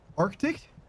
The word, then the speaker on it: Arctic: I'm pretty sure never in my life have I pronounced it properly. Mitch is like, "Oh same. What the fuck?" Yeah, there's two C's in it.